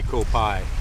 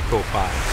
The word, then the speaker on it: Koh Phai: Because you can't say Koh Phai. You have to say Koh Phai.